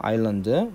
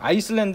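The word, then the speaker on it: island: 아일랜드. 아이고 요거. 그래서 아일랜드는 섬입니다. 아일랜드 섬이란 뜻이죠. 그래서 섬. 여기 S가 발음이 없어요. 알겠나요? 그래서 아일랜드입니다. 아이슬란드 이러면 안 돼요.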